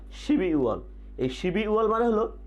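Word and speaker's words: 십이월: আমরা স্ক্রিনে দেখতে পাচ্ছি শিব ই ওয়াল, তাহলে উচ্চারণটি হবে কি শিবি ওয়াল, শিবি ওয়াল, শিবি ওয়াল।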